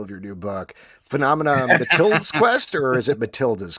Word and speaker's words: Matilde: Phenomena Matilde's Quest, or is it Matilda's Quest? Matilda's Quest. And Matilda, it's spelled the Portuguese way because my great co-creator, Andre, that is the name of his daughter.